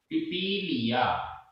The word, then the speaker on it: पिपीलिया: पिपीलिया, पिपीलिया, एक पा में शुरू में पहले वाले पा में छोटी की और फिर इसके बाद बड़ी की, दोनों के उच्चारण में डिफरेंस आना चाहिए।